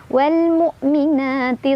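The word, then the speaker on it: والمؤمنات: Wal mu, mu hamzah sukunnya ditonjok lagi ya, ditekan tapi jangan ada ekor ya. Wal mu, jangan mu, tapi mu selesai ya, mu. Wal mu'mina.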